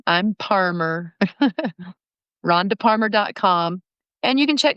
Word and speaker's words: Parmer: And remember, Parmer rhymes with farmer, but it starts with a P. So I'm not Palmer, I'm Parmer.